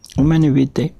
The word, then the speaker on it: Humanae Vitae: se pronuncia? Humane Vitae.